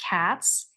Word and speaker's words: Katz: Bad joke, but do your partners tease you that with your last name pronounced Katz, you represented a party in a dog case?